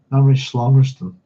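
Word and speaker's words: Namri Songtsen: but in Tibetan history Namry Songst uh Namry Slongston that's how you pronounce it was a significant figure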